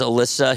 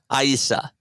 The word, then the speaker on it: Alyssa: My sister, her name is Alyssa. He would call her Sa, Aisa. That was how he pronounced her name.